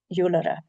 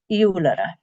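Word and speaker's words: iolaire: The most common one found, and somebody's just put one in the chat box, is eulera. Pronunciation is tricky, so try with me. Eulera. Eulera.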